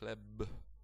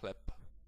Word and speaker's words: chleb: So if I would like to pronounce this word with the way it's actually written, I should say chleb, but as you can hear, it sounds a little bit unnatural.